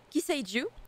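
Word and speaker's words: 寄生獣: le nom de la série, Parasite en japonais, Kiseiju, de souvenir, hein, je me semble que ça se prononce comme ça.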